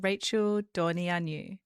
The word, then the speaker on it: Dorneanu: Today we're exploring the psychology of intimacy with Rachel Dornianu. Hi Rachel. Hi. Awesome pronunciation of my name.